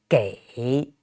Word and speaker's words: 给: So G, and this EI is the final. It's pronounced A, just like the letter A, and third tone. So together, G, A, 给, 给, 给.